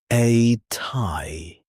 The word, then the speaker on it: a ty: After you introduce yourself, you ask, a tie, pronounced ati.